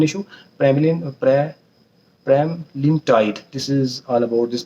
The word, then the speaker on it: Pramlintide: This was all about the prema prem prema lean tight prema sorry for pronunciation wrong, pronunciation issue. Premlin Premlintide.